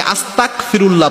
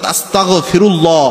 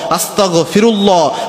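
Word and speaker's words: أستغفر الله: ইস্তেগফার আস্তাগফিরুল্লাহ পড়ার সময় অনেকে আস্তাগফিরুল্লাহ পড়েন, ক উচ্চারণ করেন, তাহলে অর্থ হয়ে যায় আল্লাহ রাব্বুল আলামিনের উপর আমি কুফরি করলাম, আল্লাহর কাছে মাপ চাওয়া তো দূরের কথা, এর অর্থই পরিবর্তন হয়ে যায়। এজন্য যখনই আপনি আস্তাগফিরুল্লাহ পড়বেন গ উচ্চারণ করবেন, অর্থাৎ আস্তাগফিরুল্লাহ আস্তাগফিরুল্লাহ আস্তাগফিরুল্লাহ, এভাবে গ দিয়ে উচ্চারণ করবেন।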